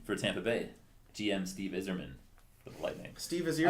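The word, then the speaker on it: Yzerman: good 7-3 win for Tampa Bay GM Steve izzerman the lightning Steve is here and Eve is pronounced is Steve is yerman so Tech what do you got for us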